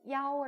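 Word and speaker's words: 幺: 매우 중요 하며 , 1(Yi) 과 7(Qi) 의 발음 이 비슷하기 때문 에 숫자 1 을 "Yao" 로 읽는 것 을 기억 해야 합니다 .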